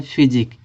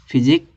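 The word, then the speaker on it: physique: ठीक है, इस क्यू यू के उच्चारण क्या निकल रहा, का निकल रहा, तो हो जाएगा फिजिक, फिजिक।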